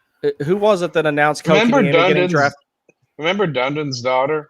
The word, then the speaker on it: Kotkaniemi: And then right after that, whoever it was that announced Kotkaniemi getting drafted, he totally butchered his name, Kakanemi or something.